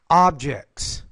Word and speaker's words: object: if I said a if it were a verb I'd say objects but because it's a noun I say object so I put stress on the first syllable for the noun I put stress on the second syllable if it's a verb about people Place Ben